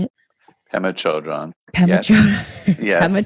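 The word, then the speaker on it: Pema Chödrön: Pema Chodron.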